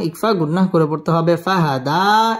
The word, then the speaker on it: فهدى: গুন্নাহ করে পড়তে হবে ফাহাদা এক আলিফ টান দিয়ে ওয়াকফ করতে হবে ওয়াজাদাকা দাল্লান ফাহাদা ووجدك ضالا فهدى واو زبر واو زبر واوا জিম জবর জা, দাল জবর দা, জাদা।